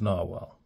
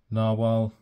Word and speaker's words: Nahvalur: spelling so this is this is the updated spelling of narwhal which I'm pretty sure is still pronounced narwhal but it's spelled navalur